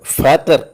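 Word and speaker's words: Vater: വി എ ടി ഇ ആർ ഇംഗ്ലീഷിൽ വി എന്നുള്ള ഉച്ചാരണം അല്ലെങ്കിൽ ഫൗ ആ ആ രീതിയിൽ അത് എഴുതിയിട്ട് ഫാറ്റർ എന്നാണ് പറയുന്നത് ഫാദർ എന്നുള്ള അർത്ഥത്തിൽ പിന്നീട് ഒരു അക്ഷരം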